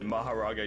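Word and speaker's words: Mahoraga: I don't know who who is it Maharaga? Yeah, Maharaga.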